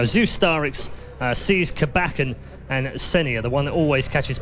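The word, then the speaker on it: ceh9: And he said, no, it's Senia. And you and I both have said it exactly the same way ever since. And there are still damn arguments to this day about how you pronounce his name. Well, it changed from Essenin, right? And that's where everyone was just thrown off with it. And then Senia, which, you know, to us is, say, 9.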